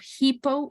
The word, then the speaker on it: hippo: three the pronunciation of hippo in this case the H is actually pronounced not like in Spanish you know I will